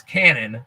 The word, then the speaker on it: Canaan: As you mentioned, and not Canaan, it's Cannon. Okay, you mentioned Cannon. It's spelled Canaan, but it's actually Cannon.